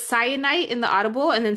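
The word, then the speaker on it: Syenite: So, it's cyanite in the audible and then cyan for her nickname.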